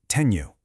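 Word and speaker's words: tenho: It's just like the nia sound in canyon. A perfect example is the word teno, which means I have. You pronounce it tenu.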